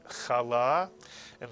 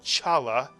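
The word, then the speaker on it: חלה: see by the way some people call it Chala because they don't know that when they see transliterated English the CH is the sound it's not Chala it's kala and here's a word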